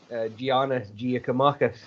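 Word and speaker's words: Giannis Giakoumakis: You'll have to pronounce it for us, bud. Sorry, Giannis Giacomakis. Giacomakis.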